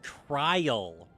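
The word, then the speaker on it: Krile: I always say her name wrong. It's Cryle.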